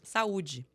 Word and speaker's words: saúde: Saúde.